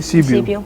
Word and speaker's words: Sibiu: Cebu. Sibiu. That's how you pronounce it.